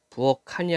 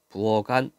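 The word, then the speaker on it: 부엌 안: 실제 의미를 갖고 있으니까 얘 키읔이 기역으로 바꿔야 돼. 기역으로 바꾸고 뒤로 넘기는 겁니다. 그래서 발음이 부엌한이 아니라 부엌안 이렇게 되죠.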